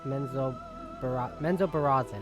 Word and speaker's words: Menzoberranzan: Raised by Lolth's cult in the city of Menzoberranzan, I think is how you pronounce it.